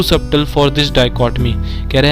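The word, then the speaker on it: dichotomy: इसका प्रोनाउंसिएशन ध्यान से सुनिएगा, इसे प्रोनाउंस करते हैं डाइकोटमी।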